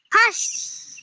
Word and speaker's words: হাঁস: এই হাঁস এই হাঁস মানে বানানটা দেখো হয় চন্দ্রবিন্দু আকার দন্তেস হাঁস আর আমরা যেটা হি করলাম ওটা হচ্ছে হাসি এটা কি বলতো এটা